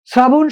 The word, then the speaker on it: শ্রাবণ: শ্রাবণ শব্দের সঠিক উত্তর, শুরুতে যদি রফলা থাকে, আমরা জানি তালব্য স অথবা দন্ত স এর সাথে যদি রফলা যুক্ত থাকে, তাহলে রফলার কারণে ওই স এর উচ্চারণটা হয় স এর মতো।